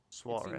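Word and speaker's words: soirée: Soiree.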